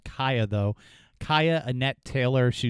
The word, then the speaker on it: Cieha: It's pronounced Cieha, though.